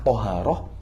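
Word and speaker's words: طهارة: Bagaimana dobet lafadznya? Apakah toharoh, tiharoh, atau tuharoh? La huwa bi fathit ta.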